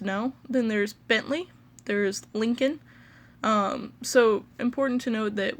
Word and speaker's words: Lincoln: then there's Bentley there's Lincoln so important to note that with Lincoln it's like link like linking two hands together and then in so it's Lincoln there's ubermann a popular